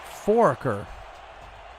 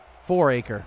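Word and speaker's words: Fouracre: ottawa the lead though from forker yeah that sounds about right or four four acre yeah thanks rob i don't need me saying your name wrong when you get drafted that's right get that right four acre got it it is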